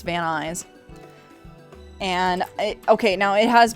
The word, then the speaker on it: Van Nuys: you doing yeah so v-a-n-n-u-y-s let's pronounce van eyes and okay now it